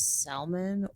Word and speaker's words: salmon: Is salmon spelled with salmond pronounced as salmon or salmons?